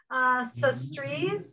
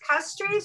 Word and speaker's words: Castries: The capital, Sestrees, did I pronounce it? Is it Castries or Sestrees?